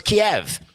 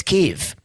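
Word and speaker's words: Kyiv: we know like Keith I always thought it was Kiev apparently it's Keith who knew I would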